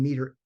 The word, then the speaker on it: METR: I'm pronouncing meter, METR as meter.